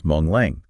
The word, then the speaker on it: Hmong Leng: But in Hmong Leng, it's just a regular M.